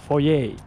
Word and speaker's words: foyer: So you walk into a house, it's a foyer. It's not a foyer. It's not a foyer, folks. It's a French word. Foyer.